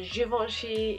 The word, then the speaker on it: Givenchy: my sponge I'm gonna be using is a Givenchy yes I'm saying it right this time there's